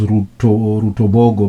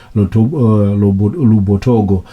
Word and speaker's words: Rutobogo: On the screen it's indicated as Rutobogo, but the locals pronounce it as Lubotogo.